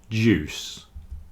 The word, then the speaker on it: juice: But fruit juice and suit, the I is not pronounced.